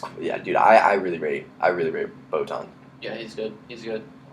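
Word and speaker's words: Botman: Botan.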